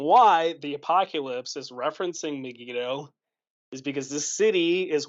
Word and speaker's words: Megiddo: It's called Armageddon, but that's not the right pronunciation. We get Armageddon from the Greek, which is a transliteration of the Hebrew Har Megiddo, which is Hebrew for Mount Megiddo.